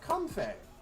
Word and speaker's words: Comfey: Like, it's spelled like comfy, but with an E in the FY. So it's like Fey, like the Feywild.